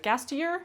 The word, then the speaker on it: Gasteyer: Gastier is how you say it.